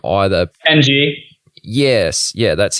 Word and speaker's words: Ng: I'm not going to attempt to pronounce his last name either. NG.